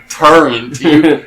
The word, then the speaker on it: turret: Turret? You add an N in it sometimes. You've always had a pet peeve about that.